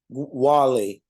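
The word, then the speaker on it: Guale: the Spaniards as the province of Guam pronounced Wally but most of the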